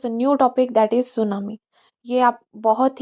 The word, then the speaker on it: tsunami: होती क्या है तो सुनामी जो शब्द है उसमें टी साइलेंट राहत है और ये एक जापानी